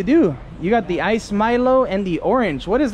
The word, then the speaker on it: Milo: nice Milo please Milo Milo you guys always tell me I say Milo wrong I say Milo because my family's from Latin America and we pronounce the m-i-l-o like Milo we're gonna make a